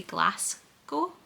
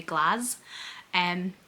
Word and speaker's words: Glasgow: American tourists pronounces it the American way, where they say Glasgow, like glass, where we would say glass.